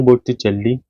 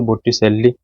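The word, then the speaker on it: Botticelli: जाने जाते हैं, सांद्रो बोट्टिचेल्ली, जिनको बोट्टिसेल्ली, ये क्या है, इनके नाम के जो प्रोनाउंसिएशन है वो अलग अलग हो जाते हैं।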